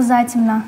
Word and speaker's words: затемно: Первое слово затемно. Ударение на букву А.